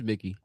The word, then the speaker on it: Mickey: Is it Mikey or Mickey? I keep saying it wrong. It's Mickey. Mickey.